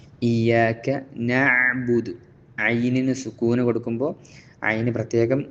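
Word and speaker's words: نعبد: പ്രത്യേകം അതിന്റെ മഹ്റജ് ശ്രദ്ധിക്കണം പുറമേ സുക്കൂൻ കൊടുക്കുമ്പോൾ ഒരു പെട്ടെന്ന് നബുദു എന്ന് സുക്കൂൻ കൊടുക്കുന്ന അക്ഷരങ്ങൾ പെട്ടെന്ന് ഉച്ചരിക്കേണ്ടതായിട്ടുണ്ട് നബുദു എന്നുള്ള ആ ഒരു സാവകാശം കൊടുക്കാതെ നബുദു എന്ന് പെട്ടെന്ന് ഉച്ചരിക്കേണ്ടതുണ്ട് നബുദു പറഞ്ഞപോലെതന്നെ നസ്ത എന്നുള്ള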